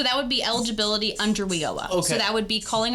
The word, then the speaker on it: WIOA: We call it WIOA.